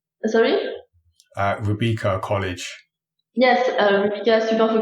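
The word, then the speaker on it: Rubika: Is that the right pronunciation? Sorry? Rebecca College. Yes, Rebecca Super for Game, actually. The school changed names when I was there. So yeah, it was Rebecca.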